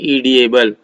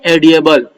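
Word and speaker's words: edible: बहुत सारे लोग इसको बोल जाते हैं ईडिएबल, जबकि राइट प्रोनाउंसिएशन इसका है एडिएबल।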